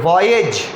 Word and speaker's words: voyage: spelling था VOYAGE, pronunciation करोगे वॉयेज, और वॉयेज का मीनिंग